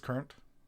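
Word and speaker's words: currant: the star man deluxe current is pronounced the same as current oh is it just current current and current two different spellings but you pronounce it the same way that doesn't make any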